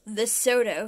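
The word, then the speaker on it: Lesotho: confusion with zambia it's pronounced the soto when malawi the spanish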